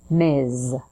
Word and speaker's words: Ms.: and mizfit the bill it's pronounced with a z so Buzz your vocal cords at the end Miz let's try a few examples Miz Brown M Rodriguez M